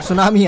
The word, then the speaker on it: सुनामी: टी सुनामी आई, अरे मतलब सुनामी आई है. टी मैं क्यों बोल रहा हूँ? टी इज साइलेंट गाइस, जिनको नहीं पता सुनामी का टी साइलेंट होता है.